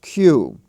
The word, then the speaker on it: queue: have the odd word q q u e u e and that's from the French that's why we have such a peculiar spelling but its pronunciation is q and Q as we